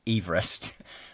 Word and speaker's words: Everest: And he actually pronounced his surname Everest. So we've been pronouncing it incorrectly ever since.